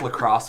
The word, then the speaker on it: LaCroix: It's pronounced lacrosse, please. LaCroix.